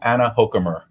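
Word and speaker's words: Anna Hochkammer: term welcome the honorable anna hokemer thank you very much guido you pronounced my name beautifully we're off to a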